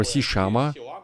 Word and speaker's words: SeaLlama: is a top winner, SeaLlama or SeaLlama, which is how you correctly pronounce it in Argentinian, who beat pretty much everyone.